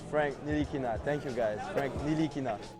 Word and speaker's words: Ntilikina: Actually, it's Frank Ntilikina. Thank you. Yeah. Excuse me. Say it one more time, Frankie. Frankie Smokes. Actually, it's Frank Ntilikina.